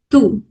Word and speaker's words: tous: Tout means all. We use this one with all masculine singular nouns. Okay. Second is T-O-U-S. Pronunciation is tout only.